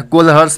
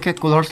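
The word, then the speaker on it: Kohlrausch: नाम बहुत टेढ़ा है, नाम पता है क्या है, कोलहर्स नाम है, क्या, KOH, स्पेलिंग बड़ा बड़ा टेढ़ा मेरा है, KOHL, नाम हम देख लेते हैं, HLLRAUSCHS, RAUSCH, कोलहर्स लॉ।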